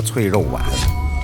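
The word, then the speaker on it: 脆肉鲩: 脆肉鲩，本地人读作脆肉丸，是中山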